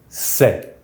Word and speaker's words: ces: It is pronounced CES and it is written C.E.S.